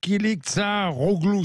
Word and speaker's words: Kılıçdaroğlu: Nous avons un opposant qui s'appelle Kemal Kılıçdaroğlu, c'est ça? Exact. Exact, parce que c'est pas facile à prononcer, hein, je vous dis tout de suite.